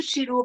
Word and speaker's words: Xirú: Tu pode falar o teu e-mail, Chiru, para as pessoas aqui É escrever? Chiru Antunes, com Chiru X, com né?